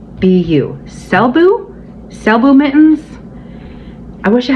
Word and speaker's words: Selbu: to write it down because I think I pronounced it right I hope I do it's called s-e-l-b-u selbu selbu mittens I wish I had a picture